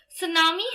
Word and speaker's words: tsunami: Tsunami has the spelling of T-S-U-N-A-M-I, but it's pronounced as tsunami. T is silent.